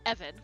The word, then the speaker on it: Eoghan: Eoghan, which is Evan.